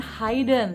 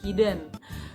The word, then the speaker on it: hidden: untuk kata ini itu bacanya bukan Hayden tapi hidden begini kalau dia menyembunyikan